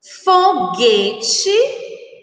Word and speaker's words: foguete: Foguete, guepardo, Guilherme, guincho, Miguel. Então, essas são as palavras que nós, quando pronunciadas, não escutamos o som da letra U, que exatamente como mangueira.